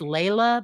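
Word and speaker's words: Lejla: year ago and uh her name is spelled because it's Lea but it's l e j l a and I do have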